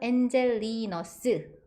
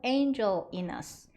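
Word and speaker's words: Angelinus: 스 약간 이렇게 들려요 하지만 영어식 발음은 Angel in us Angel in us Angel in us 이거예요 천천히 바음 두 번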